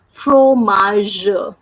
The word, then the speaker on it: fromage: The sound of GE is J. That's why we are reading this word like fromage.